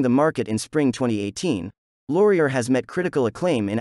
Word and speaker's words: Laurier: number one the laurier neptune series three l-o-r-i-e-r pronounced laurier is based in new york city owned and